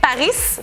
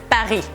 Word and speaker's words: Paris: Ustedes van a decir, bueno, L'Oréal lo dicen bien por ahí, pero dicen siempre París, pero es Paris. La S no se pronuncia.